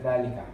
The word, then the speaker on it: ذلك: But I'll put the alif there just to show you how it's pronounced. Okay. Oh, but it ذلك. doesn't have the alif in it. Yeah, ذلك.